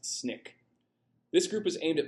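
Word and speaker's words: SNCC: The abbreviation is pronounced SNIK.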